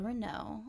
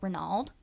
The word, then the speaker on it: Renaud: Okay, so my name is Renaud, although everyone in the South says Renaud because they can't pronounce correctly. But it's spelled Renaud because it's Okay. French. Because we can pronounce correctly, and that's Renaud.